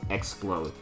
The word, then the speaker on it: Xplode: Literally, Explode, but minus the E. So you spell it with an X, so Explode.